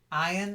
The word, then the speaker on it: iron: than x right Exile perfect and then iron iron is a silent uh iron iron okay okay